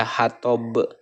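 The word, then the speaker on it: حطب: Nah, mengenai huruf qalqalah di sini hurufnya adalah huruf ba ya, hatob, hatob gitu ya. Ini adalah qalqalah kubro. Cara membacanya itu dengan memantulkan huruf qalqalah.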